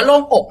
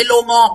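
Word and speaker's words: โล่งอก: อก อะไร อย่าง งี้ ออก เสียง ว่า โล่ง อก นะ คะ ไม่ ใช่ โล่ง งอก นะ คะ เธอ What a relief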